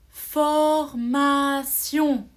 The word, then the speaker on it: formation: on doit lire sion attention un autre mot formation vous avez la formation une formation c'est comme des cours pour apprendre un travail ou pour améliorer son français on peut faire une formation vous voyez à la fin de formation g